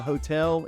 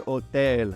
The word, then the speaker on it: hotel: First of all, the hotel, it's easy. El hotel. Just remember it's masculine. El hotel. H is silent.